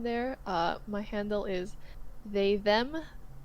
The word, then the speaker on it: themme: My handle is they them. Them is spelled like femme, but instead it's THEMME.